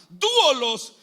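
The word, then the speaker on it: δοῦλος: Cuando el apóstol Pablo dice siervo, está utilizando una palabra griega que se que se pronuncia duolos y dúolos significa esclavo.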